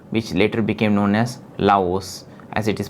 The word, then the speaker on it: Laos: And most of Thailand was actually divided to make way for a new country, Lao, which later became known as Laos, as it is pronounced in French.